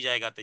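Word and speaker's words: ظ: ত দাল ত তা দাল ত এক একই জায়গাতে জিহ্বার আগা সামনের উপরে দুই দাঁতের গোড়ার সাথে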